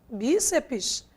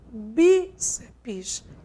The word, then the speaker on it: bíceps: Já quando a gente trabalha com revólver, como está aqui, e com bíceps, a sílaba tônica quem é? Não é a última, e sim a penúltima.